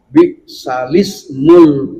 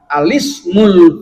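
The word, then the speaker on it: بِئْسَ الِاسْمُ: Ya, maka cara bacanya menurut qiraat Asim riwayat Hafs adalah bi'salismul fusuku ba'dal iman. Itu cara wasol. Tapi cara ibtida atau mulai dari kata al-ismu boleh dengan cara alismul fusuku ba'dal iman.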